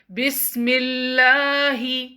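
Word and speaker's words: بسم الله: preceded by a kasra bismillahi prolong your alarm up to two counts don't say bismillahi okay make it longer bismillah bismillah the raw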